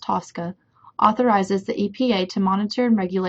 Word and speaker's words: TSCA: The Toxic Substances Control Act, abbreviated TSCA and pronounced TSCA, authorizes the EPA to monitor and regulate industrial